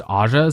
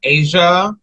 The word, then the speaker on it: Aja: name to Asia but some people would mispronounce it as Aza so she just kind of went with it it was really supposed to be um Asia but like people kept pronouncing it as AA like when they would